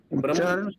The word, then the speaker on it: ब्रह्म: उच्चारण प्रभु ब्रह्म होता है। ब्रह्म ब्रह्म परम ब्रह्म। ब्रह्म परम ब्रह्मा ब्रह्मा तो नहीं। ब्रह्मा नहीं है और भ्रम भ्रम भी नहीं है।